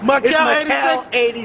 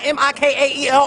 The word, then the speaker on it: Makael: Makael86. Bitch, everybody know who you are, girl. Okay, MAKAEL, not MIKAEL or MIKEL. MAKAEL 86. MYKIEL. Who man? MYKIEL 86. No, it's MAKAEL.